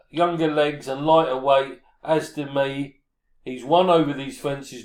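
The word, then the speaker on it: As de Mee: As de me, as it's pronounced, not ar de me, as de me.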